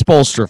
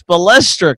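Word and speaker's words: Spoelstra: Oh, he's not spe, he's spo.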